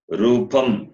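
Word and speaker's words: rūpam: The next one, ra, ra, ri, ri, ru, ru, rupam, that long ru you have to use.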